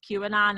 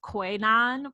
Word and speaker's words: QAnon: by her colleagues because she mispronounced cubanon as koinon because it was the first time she had ever seen it in her teleprompter she didn't know she